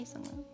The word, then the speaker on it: Sungwoon: I don't actually have the album from this era, but I do have a Sungwoon. Sungwoon. I want to say Sungwon because I spell it like that, but it's not.